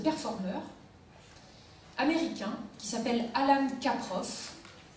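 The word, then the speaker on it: Kaprow: travaux d'un artiste performeur américain qui s'appelle Alan Caproff. Caproff, ça s'écrit K-A-P-R-O-W.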